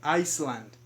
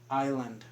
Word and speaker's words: island: Be careful with this S here. You don't pronounce it. It's not Iceland. Iceland is a country, so this one is island.